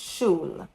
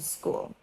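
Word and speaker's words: Schule: You pronounce it like the English word shu and l e e at the end. So it's shul. So I was saying school.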